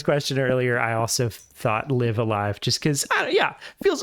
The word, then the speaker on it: Live A Live: i say live live live live live and live love yeah i mean like live alive is apparently the the official title i always